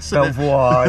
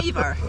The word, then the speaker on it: Belvoir: Belvoir, not quite. Beaver. Yeah, you're already there, What else are you doing?